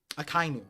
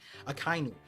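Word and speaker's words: Akainu: uh uh no kiji Akai new sorry I've been saying it wrong akinu we've been seeing that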